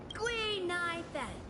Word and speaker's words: Gui Nai Fen: is Guinevere, but a Xianzhou friend came up with an authentic Xianzhou name based on the pronunciation. Gui Nai Fen.